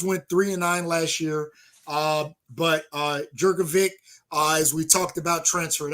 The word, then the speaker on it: Jurkovic: Boston College went 3-9 last year, but Jurkovic, as we talked about, transferred out. Moorhead, huh? His name is Jerkovich, bro.